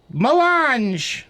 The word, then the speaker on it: melange: The most precious substance in the universe is the spice melange.